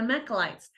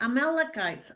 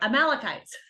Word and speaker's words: Amalekites: with him and they defeated their mechlites I may be missing that but you know what I'm talking about don't you that let's see the um Mac yeah I said it right amalekites sorry amalekites I knew I was getting one of those words wrong anyway the malachites and